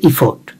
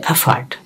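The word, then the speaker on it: effort: যেমন আমরা শিখছি ইফোর্ট, এখন এটার উচ্চারণ হচ্ছে এফার্ট।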